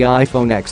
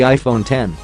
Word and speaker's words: iPhone X: names of the gadgets if you work at Apple you probably call the iPhone X the iPhone 10 whereas everyone else pronounces the X as a letter rather than a number so you might expect